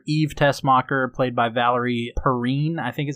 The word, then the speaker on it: Perrine: Miss Tessmacher, Eve Tessmacher, played by Valerie Perrine, I think is how you pronounce her name.